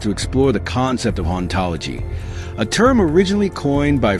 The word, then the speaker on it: hauntology: The term hauntology plays with words to reflect this idea. The H is silent, so in French, the word sounds like ontology, which is the study of being and what exists.